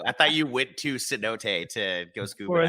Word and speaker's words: cenote: There's a cenote banana? This is how Google says it's supposed to be pronounced. Cenote.